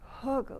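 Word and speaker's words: Hegu: my thumb pressing here hog spell h-e-g-u but it's not pronounced like an english word and then press and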